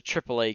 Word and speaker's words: AAA: The first is a AAA game. It's pronounced AAA, literally like that.